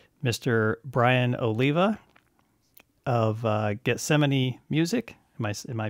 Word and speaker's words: Getsemani: guest i've got mr brian oliva of uh gethsemane music am i am i pronouncing that right brian yep perfect and uh